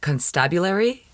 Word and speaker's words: constabulary: Now, the word that is written on the building, I'm not pronouncing this right, constabulary, like constable, but you have to change the emphasis on the syllables.